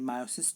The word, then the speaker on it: meiosis: देखो, हम लोग मियोसिस और मायोसिस 2 तरीके के प्रोनाउंसिएशन यूज करते हैं। मियोसिस जो है टर्म जो है आँखों की पुतलियों से रिलेटेड है, जबकि मायोसिस टर्म ये कहलाती है, ये मायोसिस टर्म कही जाती है।